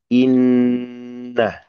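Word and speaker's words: إِنَّ: Perhatikan nun tasdid di sini. Nun tasdid itu dibaca gunnah, gitu ya. Dibacanya dengan menahan lebih lama daripada tempo tasdid yang selain huruf gunnah, huruf hidung, gitu ya.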